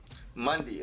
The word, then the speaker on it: Mundi: So far, all I have figured out is that the last part of his name is pronounced Mundi. Mundi.